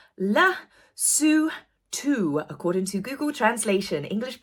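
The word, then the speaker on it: Lesotho: there is no place in the world called letho I don't know why I had that apparently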